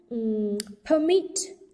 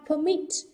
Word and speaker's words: permit: Đó, cô có permit. Động từ cho phép. Được chưa? Vì trọng âm rơi vào âm tiết thứ hai, permit.